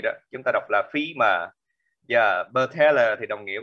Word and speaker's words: femur: Giờ femur, đọc là femur nha, đùi, xương đùi đó, chúng ta đọc là femur.